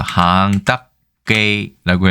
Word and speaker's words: 肯德基: 이거는 항딱게이 이렇게 해서 항딱게이라고 해서 광동어로는 발음하는데 항딱게이가 좀 더 켄터키랑은 좀 닮은 것 같아요.